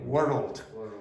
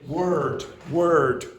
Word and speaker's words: world: A lot of you mispronounce and say that word. You say word word. Can you hear when I say world word? Can you hear the difference? Yeah. But now it's much easier if I say word world. Word world. Okay. It's much easier. So you get an extra syllable in there.